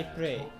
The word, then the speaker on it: Ypres: No, the name of the city is Ypres.